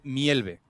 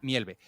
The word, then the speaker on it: Mjällby: en sueco, se dice Mjällby, ¿vale? Se escribe MJA con diéresis LLBY, pero se pronuncia Mjällby.